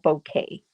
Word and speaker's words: bokeh: is b-o-k-e-h and like i say it's called bouquet and you know i went on i had